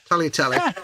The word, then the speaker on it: tagliatelle: Or it should be tagliatelle, really, the way you pronounce it. But tagliatelle.